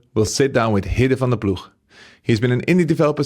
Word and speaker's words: van der Ploeg: Hidde van Ploeg. Van Ploeg, yeah. I'm probably the only interviewer that can pronounce it correctly.